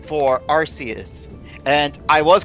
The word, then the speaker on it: Arceus: found the pronunciation for Arceus and I was correct by the pronunciation is a with a set not uh our key because it's not in the actual Japanese text and how it's pronounced